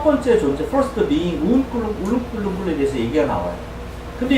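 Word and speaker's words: uNkulunkulu: 그런데 발음은 hurt예요. hurt. 근데 아프리칸스 사람, 그 아프리카에 있는 줄루족 사람들 하나님을 운꿀루꿀루 라고 불러요. 운꿀루꿀루. 한번 해볼래요? 운꿀루꿀루.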